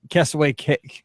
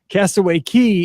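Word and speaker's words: Castaway Cay: like bike rentals that castaway key castaway cake that's way key i'm off once you say it wrong it sounds wrong i've been there castaway key in case it rains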